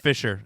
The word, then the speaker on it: fissure: Yeah, no, you said it, but we Right, you over said here it it's pronounced Fisher.